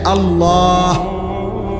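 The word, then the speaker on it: الله: এজন্য এটা খেয়াল করেন হা পুরা স্পষ্ট বিশুদ্ধ উচ্চারণ হইতে হবে শেষে আল্লাহ শেষে একটা গোল হা আছে ছোট হা আল্লাহ মানে আল্লাহু তো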